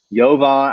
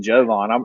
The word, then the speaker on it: Jovan: u sound it's a u sound it's rebula yovan i got him to pronounce it for me i was like i